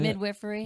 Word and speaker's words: midwifery: Is that how you say Midwifery. it? Midwifery. That's how you say it in Arkansas, where I grew up.